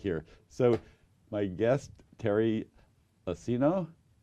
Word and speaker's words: Iacino: almost out of here so my guest Terry escena it's pronounce it correctly Catholic Charities thank you so